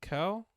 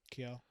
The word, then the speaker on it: Kiel: And then we go back to, is it Kel? How do you say it? Kiel.